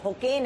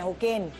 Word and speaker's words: Hocane: मैं समझ रही थी इसका जो है सरनेम होकेन है होकेन अब वो उसकी स्पेलिंग है एच ए एच ओ एच ओ